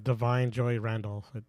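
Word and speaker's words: Da'Vine Joy Randolph: for go ahead uh Divine Joy Randolph or divain Divine I don't know they say his name theine for the holdover yeah Divine Joy Randolph Divine Joy Randolph okay said it right so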